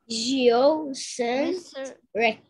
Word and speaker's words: geocentric: There are J, Yo, Sin, Yo. Trick. Very good. There are only... Yeah, I told it also, but J, Yo, is wrong. Yeah, J, Yo, Sin, Trick.